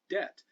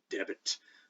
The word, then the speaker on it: debt: been there in latin why don't we pronounce the b because we have never pronounced the word debt in english any other way than debt unless you read shakespeare in holofernes and loves labor lost who's really a pedantic jerk throws kind of a tirade about one of the other characters and he preaches that you really ought to pronounce it debit but but shakespeare's holding